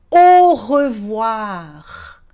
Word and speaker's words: au revoir: A próxima frase básica, curtinha, que eu vou te ensinar é o au revoir. Au revoir. Tá percebendo que o AU tem som de O?